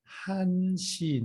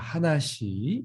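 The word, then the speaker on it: 한시: form as well so one o'clock is going to be what hanshi not a hanashi okay we have a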